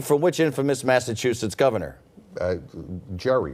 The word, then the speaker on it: Gerry: Jerry, right? Gary, yeah.